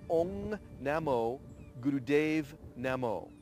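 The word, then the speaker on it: Ong Namo Guru Dev Namo: In Ten Body Yoga, we use what's called the Adi Mantra, which is pronounced Ong Namo Gurudev Namo.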